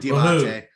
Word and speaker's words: Diabate: Different spelling, so I didn't know if that was the correct pronunciation, but I guess I got it. So woohoo for me. Mohamed Diabate, Utah now by way of Gainesville, Florida, of the Florida Gators.